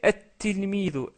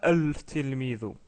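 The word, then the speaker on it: التلميذ: C'est comme si le lem ici, il est muet. Et on a doublé la lettre ta. Du coup, on prononce at-tilmidu et non pas al-tilmidu.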